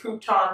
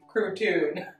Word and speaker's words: Crouton: with carol platoon i know some people mispronounce it and say crouton but it's actually protune thank you so much